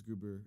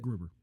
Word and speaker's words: Gruber: I feel like though you ask anybody, like, I'd say if it's not Hans Gruber or Grubber or whatever how you say it, Gruber.